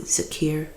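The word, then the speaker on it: dhikr: be very akin to Zakir or D d h i k r I've seen it pronounced with a z instead of a DH or written as such and um then I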